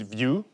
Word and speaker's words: Vue: months of using it you pronounce it view no to view or something like this so it's just view like everything else and